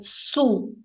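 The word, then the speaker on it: sous: e a diferença entre elas a nível de pronúncia é Sutil se você vai falar emb baixo é su su se você vai falar em cima é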